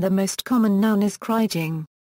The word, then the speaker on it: kriging: The English verb is to krige and the most common noun is kriging. Both are often pronounced with a hard G, following the pronunciation of the name Krige.